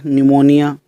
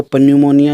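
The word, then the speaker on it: pneumonia: पी भी कुछ शब्दों में साइलेंट रहता है। जैसे न्यूमोनिया इसको पन्यूमोनिया नहीं बोलते।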